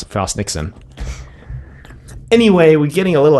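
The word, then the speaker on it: Frost/Nixon: later called frost Nixon frost you pronounce it frost Nixon but there's like a slash in between its yeah you pronounce have you want but I pronounce it frost Nixon anyway we're getting a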